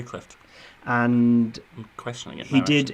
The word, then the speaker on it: Clift: Montgomery Clift oh Cliff do you pronounce the T clip Montgomery Clift and I'm questioning it